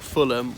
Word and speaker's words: Fulham: second syllable, well, like Fulham or Petersham, well, that's the third syllable. Balham, too many to mention. This one, and usually if it's not the first syllable, it's just that the H is silent, like Fulham, not Fulham, or Birmingham.